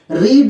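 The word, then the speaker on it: read: रीड, रेड, रीड। देखिए इसका pronunciation different होता है। सेकंड फॉर्म भी यही स्पेलिंग रहेगी, बोलेंगे रेड, रीड, रेड, और लास्ट में होगा रेड, रीड, रेड, रेड।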